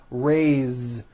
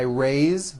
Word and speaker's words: raised: a bit unusual because even though it is spelled with an S it's pronounced with a voiced Z raised so we say I raised with a voiced Z